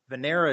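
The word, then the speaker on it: Venera: something about 16 flights vanera is how you say Venus I believe in Russian and uh Venus 7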